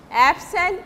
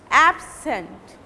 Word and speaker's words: absent: At that time you will pronounce the beginning part or the first syllable by giving stress. Suppose absent, absent, and when you are